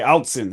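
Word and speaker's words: Autzen: I can't pronounce the name of this home field. Can you guys pronounce that? Outson. Okay, so it's not as hard as I wanted to make it. Okay, Outson.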